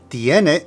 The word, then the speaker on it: tiene: Now make sure you put the emphasis of pronunciation on the first E, tiene, tiene.